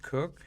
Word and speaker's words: Koch: on christina cook koch but it's pronounced cook she's married uh she